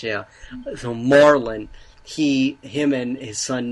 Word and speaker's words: Marlin: the relationship between uh I always want to say Merlin how do you say it Marlin Marlin because that's the name of a fish we all know the the Mi Miami Marlins baseball team and logo is a fish yeah so Marlin he